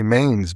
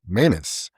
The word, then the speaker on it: Manus: I used to say Maines, but it's Manus.